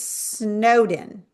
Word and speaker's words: Snowdon: And your name's Snowden.